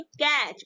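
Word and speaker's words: catch: क्या हा क्या बोलेंगे जो टी को हाईलाइट किया गया है ब्लू कलर से ये आपका तीज होता है साइलेंट राहत है और इसको प्रनंसीएशन नहीं करते इसको हम बोलेंगे कैच उसके बाद एम ए टी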